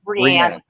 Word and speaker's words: Rian: How do you say that stupid name? Rian. God damn, that's so I thought it was Ryan, but so many people say Rian.